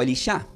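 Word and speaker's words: אלישע: nombre de ese criado el nombre de Eliseo en hebreo se puede pronunciar como elisha tiene un significado relacionado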